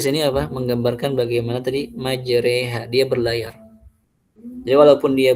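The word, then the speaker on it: مجراها: Makanya dia dibaca majreha. Adapun mursahannya tidak dibaca mursiha gitu. Nah, tadi alasannya apa? Karena dibacanya majraiha untuk menggambarkan bagaimana jalannya perahu Nabi Nuh Alaih Salam.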